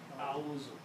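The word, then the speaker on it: أعوذ: Now pronounce, it's very easy on the tongue. A'udhu.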